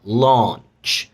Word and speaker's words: launch: يبقى lunch، هركز بقى على الامريكان pronunciation اكتر عشان ما نلخبطش نفسنا. lunch، والتانيه مد بقى launch، وانت التي برضو lunch launch.